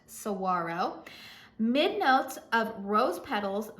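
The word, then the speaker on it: Saguaro: Cyprus Saro Cactus yes I live in Arizona that word is pronounced sawaro midn notes of rose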